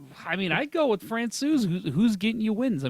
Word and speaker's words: Francouz: While how do you say his last name? Francouz. Francouz has gone. I was going to say Francois.